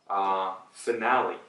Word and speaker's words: finale: 근데 영어로 얘기하실 때 우리는 finale이라고 해요. So, I was watching the series finale. The series finale. So 마지막에 Lil E처럼 발음을 하시면 영어 하시는 거고 Le로 마무리 하시면은 Italiano, 이탈리아어 하는 거죠.